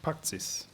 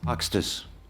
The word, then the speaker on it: Paxtis: Paxis. Help me on the pronunciation. Apologize. Paxtis. Paxtis. Good afternoon.